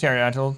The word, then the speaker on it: Pterodactyl: Here's Pterodactyl. Take a P because the P is silent.